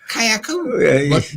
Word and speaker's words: Carriacou: And when I sometimes look at the news, I just wonder that sometimes they can't even pronounce the Carriacou as we Kayaku.